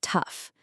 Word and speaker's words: tough: First is tough, t o u g h It sounds just like stuff or enough, right?